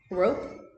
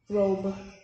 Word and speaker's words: robe: I have the word rob. If I add E at the end, it's gonna become what? Rope. What? Rope? No. You're close. Is that a P? Robe. Robe. Now I have cub.